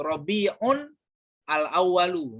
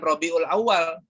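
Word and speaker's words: ربيع الأول: Rabi yaiun alaalu bacanya Yang benar Git itu tuh rabiun alawwalu ya bukan Rabiul Awal sebenarnya bacanya rabiun alawwalu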